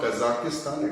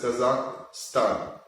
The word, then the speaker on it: Kazakhstan: So when we talk of Asia, then we can talk of Iran, Pakistan, Kazakhstan. No, it's not Kazakhstan, it is Kazakhstan, Uzbekistan, Kyrgyzstan, Tajikistan, Turkmenistan, Pakistan and Hindustan, which is India.